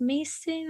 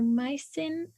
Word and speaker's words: Mason: Audrey I don't know if it's pronounced Mason or Maison um you have the floor oh my name is Mason I'm from Salt River